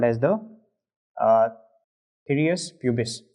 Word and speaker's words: Pthirus: So they are called as the Pthirus pubis, right? So P over here is silent, so that is the Pthirus pubis.